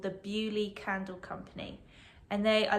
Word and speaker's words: Beaulieu: Oh, that might be backwards again, but it's pronounced Bewley in the New Forest, and they have candles,